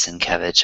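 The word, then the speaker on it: Sienkiewicz: He he'll like um his name is spelled really weird but you say it's sin kevich I feel all cool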